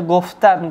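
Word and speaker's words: گفتن: যখন দেখুন এখানে আমরা উদাহরণ হিসেবে লিখেছি গোফতান, এটা একটা উদাহরণ, উচ্চারণ হচ্ছে গোফতান।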